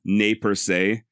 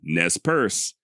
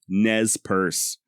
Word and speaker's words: Nez Perce: And while I'm sure the original French sounded something along the lines of nay per se, I have personally chosen to go with a more modern-day pronunciation of Nespers. Why? Because that's the way the actual tribal members themselves say it. exactly as I am. Nez purse.